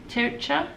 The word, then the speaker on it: Tircha: It's called the Tircha, T-I-R-C-H-A, I think I'm pronouncing that correctly, the Tircha shawl recipe.